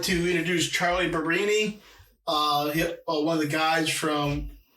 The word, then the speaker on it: Barberini: So how's it pronounced? Barberini. Barberini.